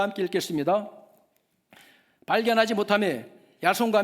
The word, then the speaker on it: 야손: 야손은 헬라식 그 발음인데 여호수아의 이름이에요. 그 야손의 집에 딱 급습해서 보니까 바울 사도가 안 보이는 거예요. 그래서 그 대신 야손을 끌어다가, 야손과 그 집에